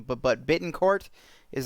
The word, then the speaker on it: Bittencourt: I'm not butchering his last name but but Bittencourt is how you say his last name the